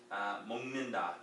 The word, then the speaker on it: 먹는다: 먹는다. Now the pronunciation of this N is going to cause this G to sound like an NG.